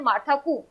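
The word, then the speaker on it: Martha Koome: मार्था कूम या फिर कूम ही basically इनका है, ई यहाँ पर इस तरीके से हिंदी में इसको प्रोनाउंस किया जाता है, मार्था कूम।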